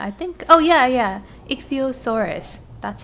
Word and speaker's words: Ichthyosaurus: Ichthyosaurus.